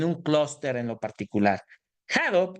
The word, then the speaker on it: Hadoop: Hadoop, que es la pronunciación adecuada, hace también que podamos